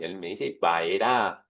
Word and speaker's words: Vayera: La de esta semana se llama Baera. Ay, pero ¿qué diferencia hay? La Yut. Sí, hay una letra que este que está ahí que no no no la estás pronunciando, es vaerá, pero tiene la misma raíz y me aparecí.